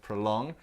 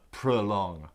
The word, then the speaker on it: prolong: pronunciation of this word prolong it's got two syllables the stress is on the second and so the O in the first part sounds like uh prolong prolong anything else you